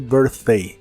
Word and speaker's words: birthday: cumpleaños la palabra Birthday se empieza pronunciando como ver pero con la lengua lo más atrás posible y suena como ver la th de Birthday es la th suave de inglés que suena solo como aire your birthday your birthday